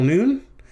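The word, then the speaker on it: ן: this is a final noon the pronunciation is n as in now that's like what i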